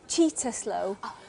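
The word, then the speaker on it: Cittaslow: that mold has cow status um it it's pronounced cheetah slow um and yes we do we are cheetah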